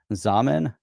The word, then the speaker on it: Zaman: Zaman, that rhymes Rhymes with with ramen.